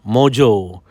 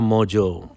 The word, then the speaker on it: Mongeau: name a tana and m-o-n-g-e-a-u is somehow pronounced mojo i'm i mean i'm simplifying it but that's how it sounds like tana mojo so i am fascinated